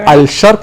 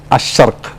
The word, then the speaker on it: Ash-Sharq: But Al-Sharq, its pronunciation is wrong, but the right pronunciation is Ash-Sharq.